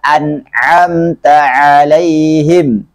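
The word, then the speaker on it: أَنْعَمْتَ عَلَيْهِمْ: Jadi bacanya siratal ladzina an'amta 'alaihim. Di sini harus kita perjelas ainnya karena terkadang ada yang membacanya seperti hamzah.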